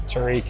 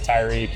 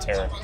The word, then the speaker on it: Tarik: Um, but it's Tariq, it's Tyreek, it's Tariq, it's anything but Tara and that's I don't care.